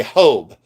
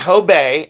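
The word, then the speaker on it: Hobé: Some people will say Hob. They say, "Oh, I think it's Hob." Or they'll say Hobbes. I'll go, "No, it's Hob. I forgive you. It's Hobay.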